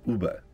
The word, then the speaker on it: UEBA: end user Behavior Analytics spelled as ueba we pronounce it as Uber for Simplicity so Uber refers to